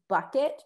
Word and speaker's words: Bucket: keeping up the appearances there's this lady whose name is bucket but she calls herself bouquet and her name is bucket and it's spelled bucket and um we watch